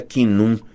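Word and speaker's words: Khnum: Acho que se pronuncia quinum. Rima com cabum.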